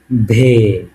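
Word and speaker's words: В: সেটা কেমন দেখেন ইংরেজিতে এই যে এইযে এইযে বি এর মত লেখা কিন্তু এটাকে রাশিয়ানে বলে ভে ভে কি বলি উচ্চারণটা ঠিক আমি যেভাবে বলতেছি এভাবে করার ট্রাই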